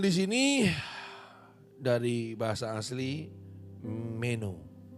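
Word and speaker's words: μένω: Kata tinggal di sini dari bahasa asli meno. Tolong bahasa aslinya ini dibaca sesuai dengan bahasa aslinya. Jangan pakai bahasa Inggris. Mi, no, bukan bukan begitu bacanya, saudara. Ya. Tapi meno.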